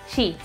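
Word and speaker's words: 死: quizá no tanto y la palabra japonesa de hoy es shi que significa muerte y se pronuncia igual que el número cuatro por eso ese número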